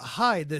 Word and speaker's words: Hyde: Fait intéressant, le nom du personnage Edward Hyde s'écrit H-Y-D-E, mais se prononce aussi comme Hyde, H-I-D-E, qui en anglais signifie cache, du verbe cacher.